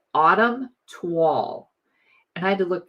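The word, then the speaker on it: toile: and it's called Autumn Twall. And I had to look that up because I want to always say toil. T. It's T O I L E. And I always want to say toil, but it's actually pronounced tw a l.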